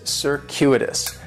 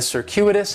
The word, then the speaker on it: circuitous: of an S sound circuitous the stress is going to be on that second syllable and that Cu is